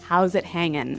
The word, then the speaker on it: how's it hanging: G right yeah but usually you don't really pronounce the G in this context cuz it's very informal so how's it hanging how's it hanging so